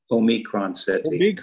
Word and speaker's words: Omicron: Omicron, that's how it's pronounced. Mm-hmm. That's how I say it. You know, it's a Greek letter.